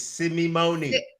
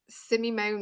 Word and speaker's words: Simeone: said it right you said it correctly chase simone simone yeah and let them take the piss out